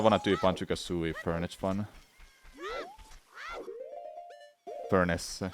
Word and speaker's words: Furnace Fun: do Slay the Spire, I just can't do Furniture Fun for Banjo-Kazooie. I kinda wanna do Banjo-Kazooie Furniture Fun. Furnace. Furnace. That's how it's pronounced.